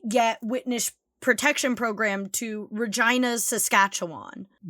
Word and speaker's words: Regina: witness protection programmed to Regina's Saskatchewan. What? That sounded like a disease. That That's literally the name. And you pronounce Regina like vagina.